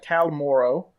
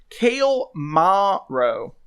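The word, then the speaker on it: Cael Morrow: there we are uh how do i pronounce cal more kale ma ro yeah kale maro that's okay uh which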